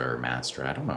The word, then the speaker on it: Mastra: It's interesting you mention YC because I keep mentioning Maestra or Mastra. I don't know how they pronounce it. It's Mastra.ai.